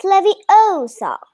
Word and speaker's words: Leviosa: someone's eye out besides you're saying it wrong it's leviosa Leviosa okay yeah so do